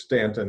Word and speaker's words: Staunton: It's spelled like Staunton, but it's Stanton in Virginia.